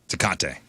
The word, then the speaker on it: Tecate: Tecate, yeah. Or I had it- a couple, or if you're I had from- a couple Tecates. Or if you're from Missouri, Tecate. Tecate. I had a couple Tecates down in Mexico last week.